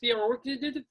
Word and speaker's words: Theerakulstit: Now the K is silent. How the fuck? What is it? It's Theerakulstit.